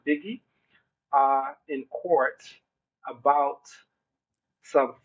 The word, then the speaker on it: Bigi: now goes by bigi so I think that will be pronounced biggie uh in court about